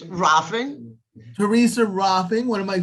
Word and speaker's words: Rohlfing: It's Rafing.